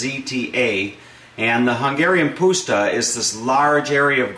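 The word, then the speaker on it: puszta: dish that originated on the Hungarian poua and that's spelled p u s ZTA and the Hungarian pusta is this large area of grassland that is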